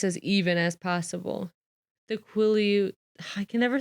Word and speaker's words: Quileute: The Quileute...